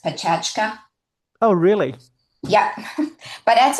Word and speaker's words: Pecha Kucha: Uh, It, yeah, so Sarah, Sarah, the format, you write it Pecha Kucha, but it's actually pronounced Pechachka.